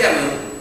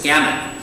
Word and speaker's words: gamut: in pronouncing my U's, I was pronouncing my U's the same way I would pronounce, in Spanish, pronounce my U's.